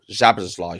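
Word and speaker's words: Szoboszlai: well, or Zabazlai, should I say? That's the correct pronunciation of that one.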